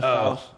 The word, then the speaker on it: Tso: As I understand it, the T is silent. General Tso's.